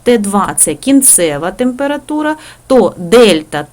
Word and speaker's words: Дельта: це кінцева температура то Дельта т стрільта це трикутничок да читається як Дельта означає змінніна температура Т2